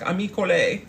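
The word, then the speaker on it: Amika Cole: the Amy Cole which isn't pronounced am Cole it's like amle and then we got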